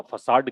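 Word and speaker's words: façade: इसको FACADE, ऊपरी दिखावा, फसाड कहते हैं इसको, है ना। छद्मावरण जिसको बोलते हैं, झूठा जो दिखावा होता है उसको हम बोलते हैं, इसको फैकेड नहीं बोलना, फसाड, क्या बोलना है, फसाड, प्रोनाउंसिएशन पे भी ध्यान देना भाई, ठीक है।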